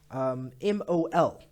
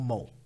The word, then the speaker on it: mol: it as MOL, okay, which is pronounced mol or mole.